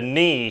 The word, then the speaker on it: knee: a K in there the K is silent you don't say the k then why put it